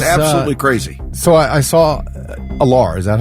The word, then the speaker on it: Aller: it's crazy it's absolutely crazy so I saw allar is that how you say his name all all Aller that's right um he practiced he he was